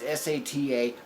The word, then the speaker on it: SATA: It's an SATA, data, whatever, however you want to pronounce it. It's SATA.